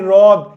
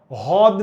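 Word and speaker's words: হ্রদ: এটার উচ্চারণ কিন্তু ভাই রদ। হদ না।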